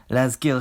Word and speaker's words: להזכיר: Also, throughout the video, I made a few errors with pronunciation, so: להזכיר has a [k] sound, not a [χ] sound, the masculine singular past